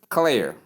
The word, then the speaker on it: clear: The British English, that is B-R-E, pronounces it as clear, clear, clear. This is actually a diphthong. Short E sound and the sure sound combined give us a diphthong. So they become one sound under diphthong.